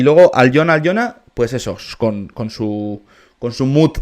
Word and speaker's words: Alyona: Y atención porque aquí llega la rapera Allion. Perdón, no se pronuncia así. Aljona, me imagino que se pronuncia.